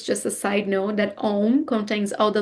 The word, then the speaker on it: Om: So it starts with A, U, and M, A, U, M, actually. But we don't pronounce Aum, we pronounce Om because of different grammar rules that we're not going to touch right now.